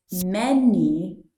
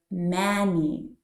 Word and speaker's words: many: the first word as many so you say many things instead of Manny for example you were